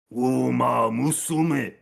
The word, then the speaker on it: Uma Musume: I think it's It's Umasume. pronounced here. I'll give you the right pronunciation. Uma Musume.